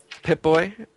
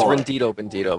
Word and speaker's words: RnDiToBnDiTo: and immortalis AKA what's his name pit booy it's rendido bendido by the way got to get that right whatever if you're could